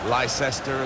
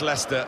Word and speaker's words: Leicester: the world try to learn how to pronounce their name. Lysester and Lchester. We got a lot of that, didn't we? But very much Leicester and very much the leaders.